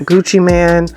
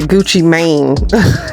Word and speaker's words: Gucci Mane: even he went at Gucci Man Gucci I'm sorry Gucci Mane I always mispronounced that and you know most